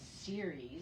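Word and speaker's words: Ceres: feels like a friend whose name is series no but it's as it's spelled c-e-r-e-s like the greek goddess but then when series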